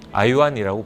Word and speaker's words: IAWN: 두 번째는 IAWN, IOWN이라고 발음을 합니다.